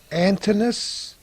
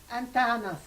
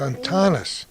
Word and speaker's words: Antanas: Is it pronounced Antinous? And your husband's first name, A-N-T-A? Antanas. Antanas. Lithuanian. In Lithuania, it's Antanas.